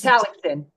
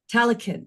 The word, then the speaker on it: Tallaksen: It's Talson. Talicanin. Okay, that was. Talson. Talson. Okay, perfect. Make sure I pronounce that correctly.